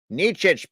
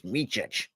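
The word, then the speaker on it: Micić: Or it's Micic. Did I ever say it wrong?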